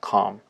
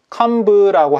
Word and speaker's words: comb: 여기서 이 B 있죠? 이 B는 묵음이라고 해서 발음을 하지 않습니다. comb라고 하지 않는다는 소리예요. 그냥 I comb my hair. I comb my hair. 이렇게 발음하시면 됩니다.